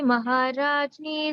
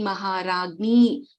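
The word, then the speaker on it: महाराज्ञी: Om Shri Mata Shri Maharajni Srimad-Simhasaneshwari Chidagni-kunda Sambhuta Deva-karya Samudyata. Tamam. So here, Ragni, we don't say Jni here. Ragni, it's Shri Maharagni, Srimad-Simhasaneshwari, and the Chidagni Kunda Sambhuta Dirgha, and then Deva-karya Samudyata.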